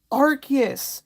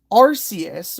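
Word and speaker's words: Arceus: And it's like that's not how it's pronounced. It's Archus, not Arus.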